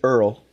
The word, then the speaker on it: Earl: we've got after getting married, and his name is Earl, spelled like squirrel, but no SQ.